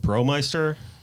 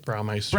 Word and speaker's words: Braumeister: Peralta, Bromeister. Did I say it right? Braumeister. Braumeister. I got it wrong again.